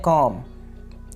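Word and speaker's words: comb: कंघी को इंग्लिश में बोलते हैं कॉम, कॉम, कॉम्ब नहीं है, यहाँ पे बी क्या है, साइलेंट है, तो लफ्ज़ क्या बनेगा, कॉम, कॉम।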